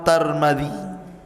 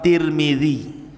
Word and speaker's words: Tirmidzi: kota sebuah daerah dan ada yang kemudian membacanya tarmid ada turmud ada tirmid jadi ada sebagian mengatakan Imam tarmadizi ada yang mengatakan Imam turmudzi ada yang mengatakan Imam Tirmidzi walaupun yang masyhur adalah Imam Tirmidzi ya ya dan itu